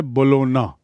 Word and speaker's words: Bologna: See the spelling and the pronunciation. Uchcharan hai Bologna, G silent.